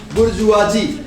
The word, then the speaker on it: bourgeois: Our epoch, the epoch of the bourgeoisie. Two words, look here. bourgeoisie. We pronounce it as bourgeoisie.